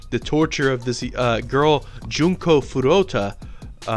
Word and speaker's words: Furuta: torture of this girl Junko Furuta maybe I'm not pronouncing her name right it's been a long time Junko Furuta I think is her name but yeah that's kind